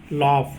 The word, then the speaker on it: laugh: LAUGH यहाँ पर भी GH को हम फ बोलते हैं, है ना, लॉफ, यहाँ पे हंसना।